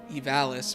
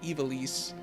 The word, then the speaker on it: Ivalice: And that game, of course, takes place in how I used to pronounce it, Ivalice, but in Final Fantasy XII, they call it Ivalice, so my brain doesn't know what to think anymore.